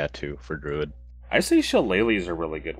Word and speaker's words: shillelagh: with shillelagh Chalet legally chalet lee oh that's that's how you pronounce that Jesus Christ how did you think it was pronounced not die I have no idea Oh like Sheila lock or something like I mean we're not